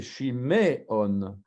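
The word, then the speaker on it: שמעון: Donc ici, le Sheva, il est muet. Shmuel. Shmuel. Le Sheva, là, il est voisé, parce que c'est Shiméon. Shiméon, tandis qu'ici, c'est Shmuel. Vous voyez la différence?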